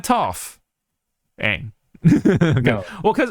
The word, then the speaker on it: Toph: My name is Toph. It rhymes with tough.